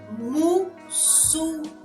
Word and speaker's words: muçulmano: Muçulmano.